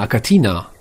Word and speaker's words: Achatina: gleich runter wie gesagt im Latein italienischen wird das ja das ch wird der K ausgesprochen also gehen wir zurück